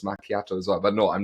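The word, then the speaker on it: macchiato: and also I'm quite surprised because it's not machiato, is it? It's makiato as well. But no, I'm not debating how exactly it's pronounced.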